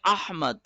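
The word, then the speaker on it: أحمد: لفظ ہی نہیں ہے، یہ تو اردو میں احمد ہے، عربی میں احمد۔ پہلی بات حمزہ پہ فتحہ آ رہا ہے، دوسری بات ہا کو شارپ کر کے پڑھنا ہے، احمد، یہ ہے اصل تلفظ احمد، ٹھیک ہے۔ اب یہ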